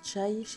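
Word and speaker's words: çay: ville ensuite sachez que le thé se prononcent chailly les turcs on en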